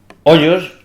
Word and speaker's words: ojos: pero claro si si Yo leo Hoyos lo estoy colocando el siglo xi por ejemplo o 12 Si yo digo ojos pues lo estoy colocando en un momento histórico en el que la digámoslo así la yota ya ha tomado el sonido verdad eh otro ejemplo